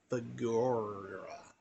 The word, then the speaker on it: Figueroa: Henry James, whose world was first revealed to me by one of my 2 characters, Clara Figueroa. That's how you pronounce it.